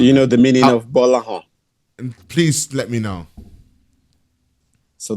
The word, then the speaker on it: Gbolahan: Because the G and B is one alphabet together. They're not separate. It's GB and it's pronounced as B. Gbolahan.